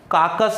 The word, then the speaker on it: carcass: काकस, ये बहुत अच्छा वर्ड है, कई बार कंपटीटिव एग्जाम में पूछा, काकस। इसका प्रोनाउंसिएशन ध्यान रखना, CARCASS प्रोनाउंसिएशन है काकस।